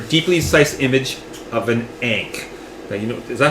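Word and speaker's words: ankh: sized image of an ank. You know, is that how you pronounce it? Ank ank a n k. Yeah. A n kh or ank. I think it's ank.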